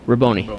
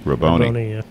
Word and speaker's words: Rabone: And the assistant coach, Nick Rabone. Correct. Did I pronounce his name right? Rabone. Rabone, yeah. Should have known.